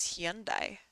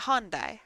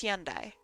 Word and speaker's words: Hyundai: I thought it was Hyundai but I don't know I don't car it's not hondai I know that cuz there's Honda and then there's Hyundai Hundai is a different